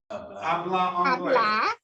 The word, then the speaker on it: hablar: papillae english okay except remember the h is silent so you want to say habla hablar english english that was